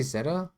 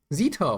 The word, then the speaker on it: Zita: Did I just say Zeta? I mean Zeta. Zita, what's up? Zita, sorry. I I I pronounced your name in a more correct incorrect way.